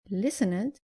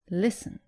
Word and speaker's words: listened: And avoid saying listened, say listened.